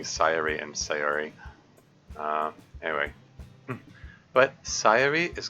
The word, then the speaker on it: Sayori: thing I've observed that in Japanese they uh put the emphasis on the first syllable always so yes sirey it's